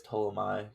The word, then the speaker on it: Ptolemy: I believe that's Ptolemy. I think the P is silent.